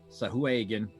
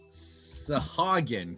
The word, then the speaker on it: Sahuagin: the docks with some Sahuagin. Sahuagin. Sea devils. We're going to keep pronouncing that differently because it's fun. Yep. Sahagin, because that's how I say it and it sounds right.